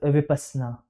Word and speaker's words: Vipassana: Correct pronunciation. Sir, Vipassana.